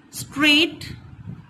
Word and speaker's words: straight: Whenever the letter G and H comes together, both of them are silent. Let us see the example. Straight, S-T-R-A-I-G-H-T.